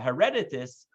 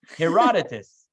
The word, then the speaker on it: Herodotus: he lost so the uh Greek historian uh hereditus forgive me Greeks if I uh you know if I didn't pronounce it correctly Herodotus hereditus he writes a lot sorry what's in it Herodotus so Herodotus writes a lot about this fellow